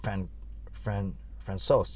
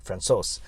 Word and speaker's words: Francouz: It's not Francouz. Yeah, it sounds like Francois, but it's Francouz.